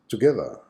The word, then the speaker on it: together: Next word is together. Together. What is the Schwa sound in this word? To, on the first and on the last syllable.